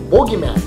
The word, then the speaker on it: bogeyman: But in British it's with one O, bogeyman, but it's still pronounced boogeyman.